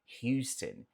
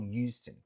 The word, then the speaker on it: Houston: Houston, Houston, Houston. Sim, Texas, também estado onde morei. E Houston, você pode ver, mas isso é um pouco mais peculiar de sotaque bem regional, tá? Eu diria que na grande maioria o pessoal só fala Houston, mas você